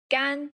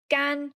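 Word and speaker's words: 甘: This character is gan. Gan. First tone.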